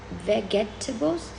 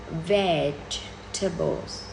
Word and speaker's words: vegetables: That is, this word has like 4 syllables. No, only 3 syllables. You would say vegetables. No. It should be vegetables.